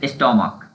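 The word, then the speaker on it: stomach: एस जोड़कर बना लेंगे जैसे स्टमक स्टमक य प क्या है स्टमक यहां प सीच का उदाहरण क हो रहा है स्टमक तो एस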